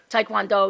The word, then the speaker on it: Taekwondo: Taecole. Taecole. Taecole. Yeah, So that's just- Taekwondo Cole. It's not Taecole. Taekwondo. It's Taekwondo. properly pronounced Taekwondo.